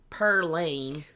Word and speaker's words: Pauline: okay see an wanted Pauline or pronounced perlan oh my God I love it as it's pronounced back then to do a a